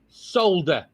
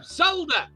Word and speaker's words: solder: know one that's weird solder solder gold solder no solder it's got an l in it but the l is silent that is not